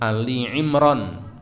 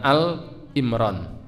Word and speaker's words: Ali Imran: tetap dalam keadaan Islam surah Ali Imran Ali imr Bacanya jangan Al imr ayat 102 kemudian surah